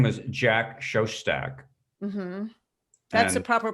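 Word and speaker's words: Jack Szostak: remind me of his name his name was jack shoshtak that's the proper pronunciation i would have said it wrong that's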